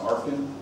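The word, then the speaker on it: ARFCN: Most Americans call this an ARFCON. Depending on where you're from and how you choose to pronounce your acronyms, you might pronounce it differently.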